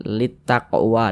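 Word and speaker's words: للتقوى: lamnya ini dibaca idgham nah ini huruf lamnya di sini kan dia tidak ada tanda bacanya nih dia enggak dibaca karena dia enggak ada tanda bacanya jadi cara membacanya itu dari li ini Li langsung masuk ke ta litaqwa langsung masuk dia seperti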